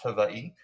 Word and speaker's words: Hawaii: in Hawaii, which I've learned on TikTok is pronounced Hawaii.